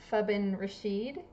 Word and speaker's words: Fabin Rasheed: everyone forgive me but I think fabin rashed is that better than what I said before that's that's perfect okay I doubt it's